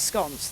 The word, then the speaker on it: scone: Well, the Queen of Baking, Mary Berry, says it's scones. That's the correct pronunciation.